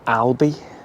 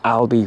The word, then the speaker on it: Albi: And since last week's video, we have moved into France and we're in a rather beautiful town called Albi. I'm assuming that's how it's pronounced, not Aldi. Little bit more expensive than Aldi.